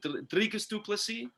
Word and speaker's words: Dricus du Plessis: Dricus du Plessis.